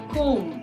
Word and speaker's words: comb: ब नहीं बोलते हम, लास्ट वाला जो ब है उसको हम हटा देते हैं, उसको साइलेंट रहता है. comb.